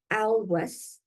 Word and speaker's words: Olweus: Dr. Dan Alweus, and it's spelled Olweus, a pioneer in bullying